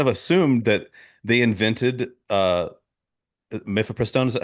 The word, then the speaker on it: mifepristone: I just kind of assumed that they invented mifepristone. Is that how you pronounce it?